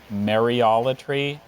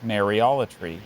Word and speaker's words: mariolatry: do it in my own speech but it's mariolatory or may reality okay mariology can I have